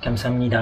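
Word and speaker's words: 감사합니다: Mais, Donc, en fait, en Corée, quand tu dis merci, kamsamnida, mais il faut vraiment le dire avec l'accent là. Le A est très prononcé.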